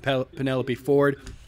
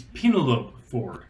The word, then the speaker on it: Penelope Ford: First of all, I got to say, congratulations to Kip Sabian and Penelope Ford. You guys are getting married. That's awesome. You pronounced that wrong. It's Penelope Ford.